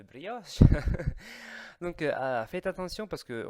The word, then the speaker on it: brioche: au lieu de Cornetto on dit très souvent brioche je sais pas brios aussi brios avec de s je sais pas pourquoi mais c'est la prononciation italienne de brioche donc faites attention parce